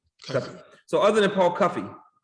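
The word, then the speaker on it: Cuffe: So I'm assuming that other than is it Paul Cuff or Paul Cuffy? How do you pronounce his name? Cuffy.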